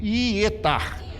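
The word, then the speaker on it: יעתר: Aqui se escreve Ietar, diga comigo, Ietar.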